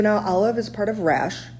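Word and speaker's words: Rasch: Olive is part of rash pronounced like rash but spelled r a s c h how however this is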